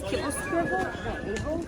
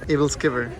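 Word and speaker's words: æbleskiver: How do you say this? Kibble skiver? Able Skiver.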